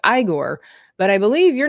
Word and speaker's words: Igor: because it's his his name in the movie is Oh, no. I'm not is Igor. Eigor. Igore. Right. It's Igore.